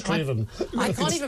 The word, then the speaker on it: Strathaven: He's correcting your Scottish. Straven.